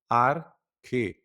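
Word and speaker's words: ἀρχή: É interessante essa pronúncia porque o alfa tem som de a e o ro que parece um p. Eu já trabalhei isso na aula passada. Ele é o R, ele tem som de R.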